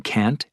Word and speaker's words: can't: Notice how the T in can't and shouldn't is not strongly pronounced.